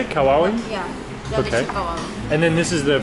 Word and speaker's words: Lechon Kawali: Lechon Kawali.